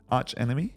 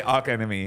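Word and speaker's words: Archenemy: of and I always it's Arch right Arch Enemy yeah yeah cuz I always say AR enemy I'm like Nigel it's not how you pronounce it I'm Arch Enemy AR enemy Arch enemies returning in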